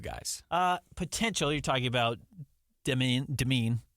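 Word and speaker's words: Demin: You're talking about Demeen. I know there's 50 different ways people have said it. I believe it's Yegor Demeen is everything I've actually heard, how he pronounces it.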